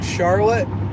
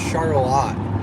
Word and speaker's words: Charlotte: It looks like Charlotte. It's actually pronounced Charlotte.